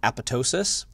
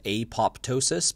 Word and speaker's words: apoptosis: the word that says apoptosis but whenever you see a PTO it's pronounced to' so it's a PO ptosis or apatow --ss so you don't say the P the cancer cells that